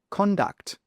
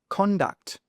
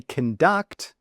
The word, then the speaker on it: conduct: So, for example, with this word here, which is a noun, we need to say conduct, conduct. Con is where the stress is. But if you say conduct, conduct with stress on the duct, well, that is a verb.